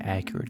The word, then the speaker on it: Acurit: And I did do a drawing earlier with a different technical pen, and it was one of the Accurate technical pens. That's spelled ACURIT.